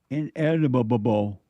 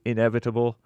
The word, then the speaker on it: inevitable: And so destiny is the predetermined, inedible, or unavoidable. You're adding an extra B syllable in there that should not be there. Read it in. Destiny is the predetermined, inevitable, or unavoidable future for